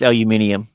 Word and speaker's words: aluminium: No, it's pronounced aluminium.